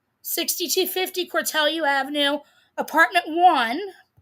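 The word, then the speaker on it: Cortelyou: Okay, 6250 Calu. Now she's doxing me and it's pronounced Cortellu. 6250 Cortellu Avenue, apartment one Avenue.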